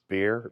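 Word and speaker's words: Behr: his name is Jason I'm not sure I can pronounce the last name correctly but it's bear B HR bear is that right that's that's right and and the reason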